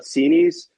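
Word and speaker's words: Xinis: Paula Sinis, which is finally, we've learned the correct pronunciation of her name. Judge Paula Sinis said today in an 8-page ruling that the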